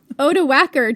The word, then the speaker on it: Odoacer: named Odoacer, Jen. That's how we're saying it.